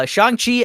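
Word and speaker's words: Shang-Chi: September 3rd shangqi I just learned how to pronounce that recently um in a trailer uh shangi and the legend of the 10 rings I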